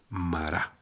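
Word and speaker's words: מרה: Por tanto, le pusieron el nombre a ese lugar de Mará. ¿Qué significa que el agua era amarga? Bien, en hebreo amargo se pronuncia mar. Entonces amarga es mará.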